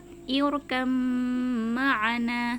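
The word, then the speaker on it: اركب معنا: Tulisannya seperti ini, irkab ma'ana, seperti itu ya. Tapi karena huruf ba dengan mim ini sama-sama makhraj asyafatan, sama-sama makhraj yang keluar dari kedua bibir, maka cara membacanya irkam ma'ana, seperti itu.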